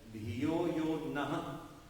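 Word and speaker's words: धियो यो नः: The correct pronunciation, dhiyo yo naha.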